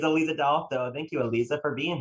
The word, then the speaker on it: Aleeza DeAlto: that you've had um delotto is a fan favorite um gelato i think it's like